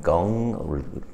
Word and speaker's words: Gong: Qigong is pronounced Qi, as in C-H-I, and Gong, rhyming with long, as in G-U-N-G.